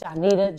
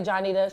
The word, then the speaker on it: Johnnitta: Johnnitta Jackson. I say Johnnitta, she say her name is Johnnitta, but I've been calling her Johnnitta since I've known her.